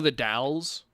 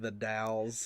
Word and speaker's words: The Dalles: in oregon you know the dalles yeah the taos is cool though any city that begins with the i know what well that's the thing but like what is a doll you know because like